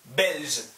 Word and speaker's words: belge: 여기, 여기 뒤에 아, 어, 유 아니면 자음 있으면 G 발음 나와요. G. 오케이? 이거 가 고, 가, 고, 규 그런 거. 그 뒤에 어 아니면 이 있으면 발음이 ᄀ, 지. 오케이? 하실 수 있어요? 가, 고, 규, 저, 지. 오케이, 그럼 이거 어떻게 읽어요? 벨즈, 벨즈. 오케이? 벨즈.